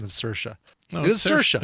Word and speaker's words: Saoirse: No, It is Saoirse. It's You Saoirse. pronounce it like inertia, and she told us how to pronounce it like inertia on SNL when she was the host.